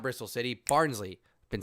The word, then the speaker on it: Barnsley: Barnsley.